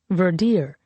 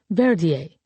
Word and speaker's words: Verdier: Verdier stopped breathing in the ambulance on the way here, the doctor said, pronouncing the name Verdier rather than the French Verier, though no one corrected her.